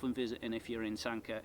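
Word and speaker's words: Sanquhar: Sanka. Yeah, Sanka. Sanka. Um it's not SQA like a lot of tourists might call it.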